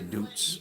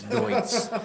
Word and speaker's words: Deutz: I always used to say Doots, but it's Deutz.